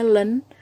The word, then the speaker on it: ln: ln kita bacanya len, LEN gitu ya, len adalah logaritma natural.